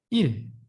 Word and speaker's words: 일: Day, how you can speak out, you can say 일.